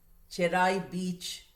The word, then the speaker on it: Cherai Beach: Cherai Beach, they told me that is how it's pronounced, so I'm pronouncing it like that.